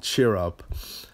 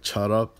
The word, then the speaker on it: Cheer Up: But I kind of despised them and got annoyed because they kept pronouncing it like chut up, like chut up. I'm like, why are they saying chut up? It's cheer up.